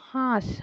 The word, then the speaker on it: হাঁস: দেখো হাঁস, হয় চন্দ্রবিন্দু আকা দন্তের স, হাঁস। এইখানেও দেখো চন্দ্রবিন্দুর জন্য একটা নাকি উচ্চারণ হচ্ছে, নাকি সুর হচ্ছে, শাঁস।